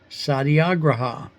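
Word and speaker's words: Satyagraha: That is Sadiagraha or at least that's how I've been taught to pronounce it.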